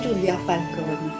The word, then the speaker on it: Giulia Falcone: Bonjour Giulia Falcone. Bonjour, C'est bien comme ça que l'on prononce.